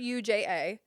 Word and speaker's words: Ruja: Ruja or Ruha? Can you spell it? Ruja.